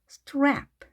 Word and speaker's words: strap: 따라서 스트랩을 마치 하나의 소리인 것처럼 빠르게 strap, strap 이렇게 하십니다. 스트랩 이렇게 각자 발음을 하는 것이 아닙니다. strap. 자, 물론 한글로 쓰게 되면 발음을 다 넣어줘야 되겠지만 자, 영어는 이렇게 모음 없이 바로 자음만 연결돼서도 발음을 하니까요. strap, strap 이렇게 빠르게 발음하시면 되겠습니다.